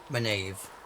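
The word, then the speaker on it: Minaeve: Oh, there's also Minave. She Minave, studies okay. beasts and things, as I understand. Goodbye. Farewell. Goodbye. Right, that's how you pronounce that name. Minave.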